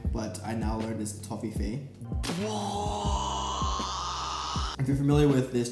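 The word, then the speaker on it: Toffifee: or the united states i thought it was pronounced to fifi but it's actually toffee face or fey means fairy and i've been pronouncing it wrong all this time but i now learned this toffee fee if you're familiar with this chocolate it's kind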